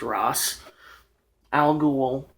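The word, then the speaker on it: Ra's al Ghul: This is an original or they called him R back then, but it is actually pronounced Ross Al Ghoul action figure.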